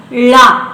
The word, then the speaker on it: ಳ: ಅದು dental sound ಮತ್ತೆ ನಮ್ಮ ವರ್ಣಮಾಲೆಯ ಕೊನೆಯ ಅಕ್ಷರ ಳ ಅದು ರೆಟ್ರೋಫ್ಲೆಕ್ಸ್ ಮೂರ್ಧನ್ಯ ನಮ್ಮ ನಾಲಿಗೆ ಮಡಚಿ ಹಿಂಭಾಗಕ್ಕೆ ಹೋಗಿ ಳ ಅಂತ ಉಚ್ಚಾರವನ್ನ ಹೊರಡಿಸುತ್ತೆ ಶಬ್ದವನ್ನು ಹೊರಡಿಸುತ್ತೆ ಇಲ್ಲಿಯೂ ಕೂಡ